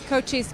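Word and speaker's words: Cochise: according to the and and it's from Arizona cois county is that how you pronounce that right right cois County so cois County the sheriff there said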